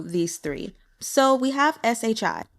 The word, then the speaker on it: shi: three so we have Shi that will be pronounced sure like shingen then Chi CH is